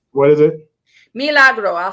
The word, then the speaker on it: Milagro: yeah bro got the name what is it meal a bro I'll spell it for you am i l8 are a G ro hmm Milagro hey tell me I don't read okay but